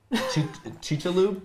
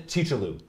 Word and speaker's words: Chicxulub: And they name the area and pronunciation. Chicxulub? Chicxulub? Is that Chicxulub? It? Chicxulub. Yeah, Chicxulub. Right? Yeah, Chicxulub. Yeah. So not my pronunciation. In Chicxulub.